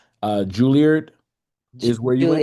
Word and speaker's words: Juilliard: So Erica Peeples is a building, and you need to pronounce this for me if I'm saying it wrong. Juilliard is where you went. Juilliard. Juilliard, Juilliard.